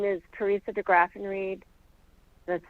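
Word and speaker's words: DeGraffenreid: opposition good morning um my name is Carissa degraffenreed that's spelled d-e-g-r-a-f-f-e-n-r-e-i-d I'm the vice chair of the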